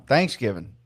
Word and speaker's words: Thanksgiving: So apparently it's it's Thanksgiving, right? But it's not you don't you emphasize the giving, not the thanks. And apparently we emphasize the thanks here in the South.